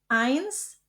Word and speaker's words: eins: Kombinasi huruf E dan I dibaca I. Jadi eins dry.